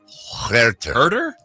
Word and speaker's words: Huerter: Is it Huerter? Herter. Oh, Herter. Oh, man. I didn't know how to pronounce it.